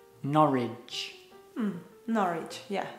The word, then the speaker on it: Norwich: It's pronounced Norwich. Norwich.